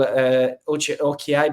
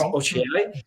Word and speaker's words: Ochiai: I told Ochiai, but it's Ochiai.